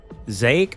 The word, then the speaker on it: Zake: Zake rhymes with rake, by the way.